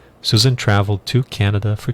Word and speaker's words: Canada: traveled to Canada, ou a pronúncia é Canada, não é Canadá. Vê que a ênfase está no Canada. No português está no Canadá. Então é quase que o inverso inteiro do nome do país.